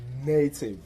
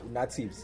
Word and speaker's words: Native: But how you pronounce Neitiv, because umuntu mebona Neitiv angathi natives. Yeah, you understand? Yeah. Of which that's not how you call the name.